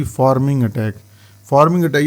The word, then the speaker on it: pharming: जैसे पी है पी को आपने यहां पे प्रोनाउंस करना है एफ के तौर पे फार्मिंग अटैक।